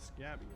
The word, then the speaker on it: Scabby: Okay, so they actually pronounce it Scabby. I was wondering about that.